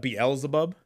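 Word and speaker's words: Beelzebub: bezelbub but it's not easy yeah I'd say beezle bub well I call it bubs I call them bubs now but uh like beezle bub and uh uh it's actually like pronounced that BL zebub it's pronounce b aliceabob yeah I just thought the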